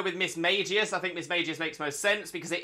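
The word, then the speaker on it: Mismagius: makes sense um the the one pronunciation I don't think will ever make sense to me is Miss magius Miss magius with a hard G there's not a lot of places where you'll find that those letters making a hard G so it doesn't make sense to me Miss magius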